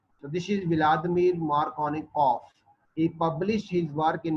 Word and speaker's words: Markovnikov: of the Russian scientist, Markovnikov. So in if any name is ending with V after vowel, it always pronounced like F in Russian language. So this is Vladimir Markovnikov.